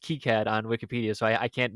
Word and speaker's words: KiCad: It says it's pronounced KiCad on Wikipedia, so I can't necessarily I can't. That's not definitive because you have because you do know that I was correct in that it is KiCad.